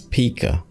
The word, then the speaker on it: Pika: P Labs P 1.5 and that's P for those of you whove been saying it wrong all this time don't worry I won't